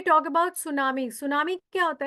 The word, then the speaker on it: tsunami: सुनामी, इसको लिखते टी सुनामी है, बट टी is silent, T को बोला नहीं जाता.